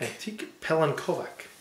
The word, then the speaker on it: Antique Pelinkovac: you say antique what is it again antique antique pelen kovak antique pelen kovak so cheers to them too